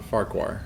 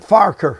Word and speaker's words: Farquhar: it totally right uh in scotland they pronounce it farker which sounds like i'm picking a fight with you let's get